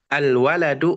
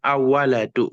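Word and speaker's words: الولد: di situ Qariah Qariah Kenapa karena tidak masuk ke huruf setelah Alif lamnya n nah dibacanya alwaladu Bukan awaladu gitu alwaladu fqirun dia alif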